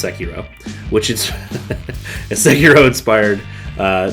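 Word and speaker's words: Sekiro: and yes unlike some other YouTubers I can pronounce seiro which is seiro inspired uh the nine Souls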